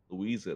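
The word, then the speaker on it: Luiza: We just leave stuff on a Louisa.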